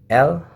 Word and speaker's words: elle: Jadi tidak membaca ele, ya, tapi l yang artinya dia untuk perempuan.